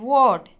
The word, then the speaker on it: ward: R is silent and A becomes O pronunciation, ward.